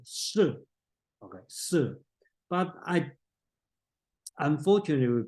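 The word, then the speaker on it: 葉: I think if you read some translation may translate as ye, Duke ye. Okay, but actually this word should pronounce it as sir.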